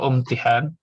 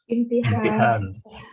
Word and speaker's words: imtihan: Imtihan. Imtihan apa umtihan? Imtihan.